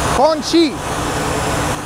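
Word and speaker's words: 空气: Kong qi. So if I want a Chinese guy to build a barrier, I say Kong qi? Kong Chi.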